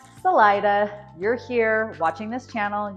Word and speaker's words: Salida: So those with the Spanish-speaking background, of course, are going to want to say Salida, but yeah, it's Salida. Hard I, accent on the middle syllable, and yes, people will correct you if you say it the other way.